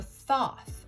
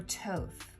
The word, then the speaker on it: Thoth: that be RWS, Marseille, or Thoth, or Toth, whichever way you want to pronounce it.